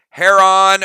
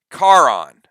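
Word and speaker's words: Charon: who the guardian is it is heron or if you're not greek and you pronounce it in english it would be um karon so this is the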